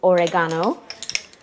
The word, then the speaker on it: oregano: Next is oregano or as they as Jamie Oliver says it. I'd assume this is how you say it in Great Britain is oregano.